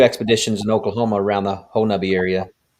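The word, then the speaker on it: Honobia: been on two expeditions in oklahoma around the whole nubby area spelled whole no hoenobia but it's it's it's pronounced whole nubby very very hit i know i know dave's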